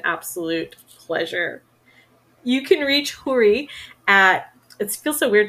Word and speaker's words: Houry: technically you should just I'm trying to get people to say it like it should be said with the rolled R so it's hoodie but it's really hard for people so Americans I tell them that it's kind of like Hootie in the Blowfish